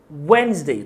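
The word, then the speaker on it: Wednesday: بعد كده ليوم الاربعاء اول حاجه الديه سايلنت مش هنطقها والاس برضو هيكون صوتها فهتبدا كده زي متى وانزداي وينزداي تخطفها الكلمه دي كتير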